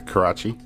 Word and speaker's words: Karachi: Am I pronouncing that correctly? Yeah, Karachi.